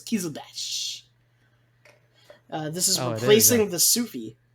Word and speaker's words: Kizilbash: Kizlabash? Kizbash. No, the I is before the L, so it's Kizilbash.